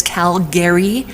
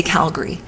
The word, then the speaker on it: Calgary: I'm from in Alberta is called Calgary it's it's spelled at the end g-a-r-y but nobody says Calgary we say Calgary so but you would know that unless you're